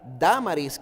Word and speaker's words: Dámaris: el Areopagita, o Pagita, una mujer llamada Dámaris, que aquí tiene el acento en la primera A, y otros con ellos.